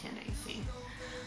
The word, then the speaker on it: Candace: my real name Candy it spelled like Candice but it's candacy um when I was